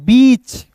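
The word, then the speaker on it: beach: यहां देखिए बी इ ए सी एच। तो इसे क्या पढ़ेंगे दोस्तों? इसे पढ़ते हैं दोस्तों बीच। यानी कि इ ए का उच्चारण इ के रूप में कर रहे हैं। यानी कि बी का ब होता है। सी एच का च इ ए का उच्चारण ई के रूप में बीच आप लगा सकते हैं।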